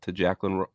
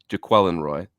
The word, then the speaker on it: Jaquelin Roy: But do you have any insight to Jacqueline? I messed it up. Jaquelin Roy. And I even made a note on the last show that that's the pronunciation.